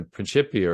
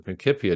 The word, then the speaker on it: Principia: That people like Newton, in writing the Principia or the Principia, depending on your preferred Latin pronunciation, that Newton was wanting